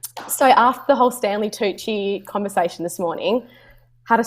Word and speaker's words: Tucci: Tuki. No, Josh said Tusi. No, I did not say Tusi. I said Tucci. I said the CC is a ch.